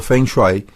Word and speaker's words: feng shui: enseñanza y cita el fengui pronunciado feng shui es una antigua práctica